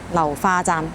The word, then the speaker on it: 流花: did not misread it The Cantonese pronunciation of "流花" is "liuhua".